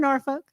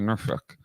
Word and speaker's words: Norfolk: Like, Right here in Norfolk. Yeah. you said it wrong. You got to say Norfolk.